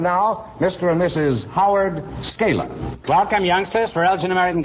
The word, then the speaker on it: Scala: Scala, is that the way you pronounce it?